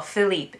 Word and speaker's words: Philippe: actually philip cann because well philippe if we do the french pronunciation because philippe can in